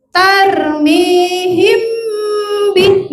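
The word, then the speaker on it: ترميهم بحجارة: Padahal mim mati ketemu ba itu bacanya harus apa tadi? Samar dan dengung. Jadi yang betul adalah tarmihim bih. Nah, tarmihim mimnya agak ditahan dan didengung ke hidung. Tarmihim ya anak-anak ya.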